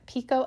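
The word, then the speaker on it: picot: This is a This is pico elastic. It's spelled like piccott, but it's pico elastic.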